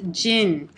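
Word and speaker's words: 人: using this with this character and here it's pronounced Jin and I used to remember Jin is from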